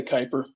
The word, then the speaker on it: Kuiper: a picture of the cooper belt now i'm not sure if it's pronounced cooper or how did you pronounce it dave i usually say kuiper kuiper okay it might be